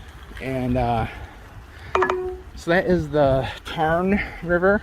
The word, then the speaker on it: Tarn: Or is it Tar? They don't say N. Tarn. So you don't pronounce the N at the end if it's followed by an A or something like that.